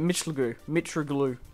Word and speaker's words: Mitroglou: Mitroglou.